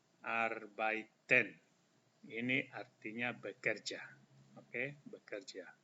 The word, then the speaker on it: arbeiten: Ini dibaca R, EI dibaca I. Arbeiten. Arbeiten.